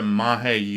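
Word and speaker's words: Magé: be talking about the mahi ufo incident now i know looking at it you want to pronounce it as mage and i'm but i'm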